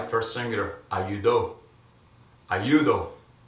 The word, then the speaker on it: ayudo: First singular, ayudo. Ayudo. Right. It's the end with the ends with the O, so accentuation syllable, the one before the last one, second to the end, right?